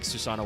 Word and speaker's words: Susanoo: trying to do because it's easier to just like add an extra syllable there for the English speakers and trying to go no no no no no it's susano o you you say the twice because the the way the OCG is written it's dash capital O but it's also written to be a long O because Susano O is